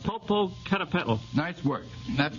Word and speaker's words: Popocatépetl: Yes, but you'll have to pronounce it. Popocatépetl.